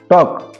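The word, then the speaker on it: talk: Silent রয়েছে কি না, তো এচ হব এটি সাইলেন্ট হেলা। তারপরে দেখো টক, টক টক টক টিএ কে উচ্চারণ হচ্ছে কি না, এল সাইলেন্ট হেলা, এলটা সাইলেন্ট।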